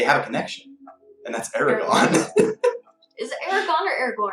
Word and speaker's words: Aragorn: And the main character is played by the guy that plays Aragon, Viggo Mortensen.